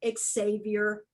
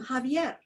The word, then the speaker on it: Xavier: So an example of one of my stairwell teatros, I heard a newscaster call our state attorney general Xavier Becerra. Well, he pronounces his name Javier.